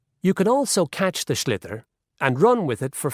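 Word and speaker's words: sliotar: you have to get this ball called a schlitter that's a s-l-i-o-t-a-r so it's not spelled the way it's pronounced you hit it into the net for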